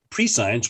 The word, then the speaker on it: prescience: no to know before which is exactly what prescience means so i just say well it turns out we don't say we don't typically pronounce it pre-science we it's either prescience or prescience and you've